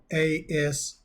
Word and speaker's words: ASMR: I mispronounced the name of these type of videos at the beginning. I meant to say ASMR.